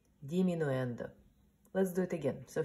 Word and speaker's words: diminuendo: no ENTER and Christian de let's repeat crescendo diminuendo let's do it again so first I will pronounce and then you go pronounce it crescendo diminuendo so Christian that means getting louder and even